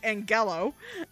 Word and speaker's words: Angelo: yeah apparently Well turns out Angelo is actually pronounced Ang yellow and it's uh the dog's a girl I